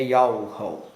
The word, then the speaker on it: Yahweh: Esse nome está contido em um tetragrama hebraico, Yod He Vav He, que em português é YHWH, e a pronúncia do nome é Yahweh.